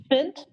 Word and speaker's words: Fint: And he said it was pronounced Fint, like Kent, but you would look at it and never think it was pronounced that way.